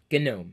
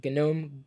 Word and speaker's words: GNOME: think about the new Ubuntu with the gnome Janome GUI GUI genome that's how you pronounce it genome GUI I don't know haven't looked at it